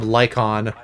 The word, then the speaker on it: Lycaon: You say his name Lycon, but they spell it like Lycaon.